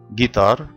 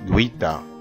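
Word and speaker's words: guitare: طيب شوف مع بعض، جيتار جيتا جيتا. هنا حرف الجي جه وراه حرف الاي، عشان كده ما نطقتش حرف الاي، ما قلتش جويتا غلط، انما اقول جيتا جيتا.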